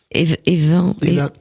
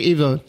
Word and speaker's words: Even: Et comme ça s'écrit E-N en général, on dit en, hein. C'est-à-dire que les noms sur la côte se disent Even comme pour Daven.